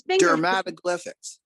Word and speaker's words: dermatoglyphics: He continues new research, particularly within the field of dermatoglyphics. Did I pronounce that right, Vernon? It's dermatoglyphics.